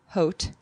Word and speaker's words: Haute: It's called Heart of Haute, H-A-U-T-E, which is really Part of like haute couture.